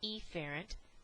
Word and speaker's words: efferent: pronunciation and enunciation, so I am going to say afferent, so you can distinguish between an incoming command versus efferent or efferent, which is an outgoing command.